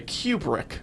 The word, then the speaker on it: Kubrick: Kubrick. Yeah. Kubrick. Kubrick. As the Brits say, Kubrick.